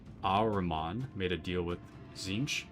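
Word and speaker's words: Tzeentch: Um, after Magnus screwed up Big E's warpgate project, one of Magnus' sons named Aramman made a deal with Zinch. I misspelled it. Pronounced Zingch.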